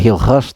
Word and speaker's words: Hilgers: Tapi memang ini menjadi one side story di mana Mads Hilgers ya, walaupun bacanya Hilgers tapi kita nggak usah, biasa aja lah bahasa lidah Indonesia ya.